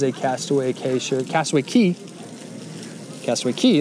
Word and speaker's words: Castaway Cay: castaway k-shirt castaway key castaway key is how it's said that's a really pretty